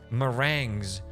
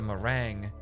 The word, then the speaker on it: meringue: Meringues. So that's a meringue. Okay. Okay. Well, meringues suck. Regardless how you pronounce them, they suck.